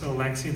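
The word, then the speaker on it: Alexej: So this name is actually pronounced Alexi. The J, it's like an I, and only check.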